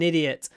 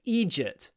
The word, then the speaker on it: idiot: an idiot an idiot there is an American version of this word which sounds like egy ah he's an egy egy I don't say it like that idiot idiot don't be an idiot idiot stress on the first syllable idiot the dovi novel